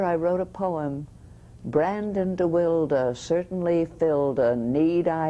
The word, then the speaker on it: DeWilde: Brandon DeWilde. What a tragic life. What a wonderful his young name actor. DeWilde, yeah. I never knew Is why. it Brandon DeWilde? Yeah, Wonderful he actor. liked it pronounced that, yes.